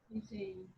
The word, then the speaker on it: cuisine: cuisine. Cuisine. Like that. Teacher, can we pronounce like Cuisine? yes. No. Cuisine. Cuisine. It's wrong. It's a French word, so it's cuisine.